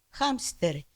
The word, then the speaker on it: hámster: Pero enseguida empieza a mostrarnos esta definición excepciones, como por ejemplo hámster, y ahí tiene sonido, es una palabra alemana.